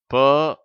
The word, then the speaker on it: per: அடுத்த வார்த்தை PER, அதை per என்று படிக்க வேண்டும். சிலர் அதை பெர் என்று உச்சரிப்பார்கள், ஆனால் ஆங்கிலேயர்கள் அதை per என்று உச்சரிக்கிறார்கள்.